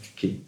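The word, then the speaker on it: tuché: Il dit, le 12 février 1964 dans son séminaire, la fonction de la tuquée, je prononce tuquée, du réel comme rencontre,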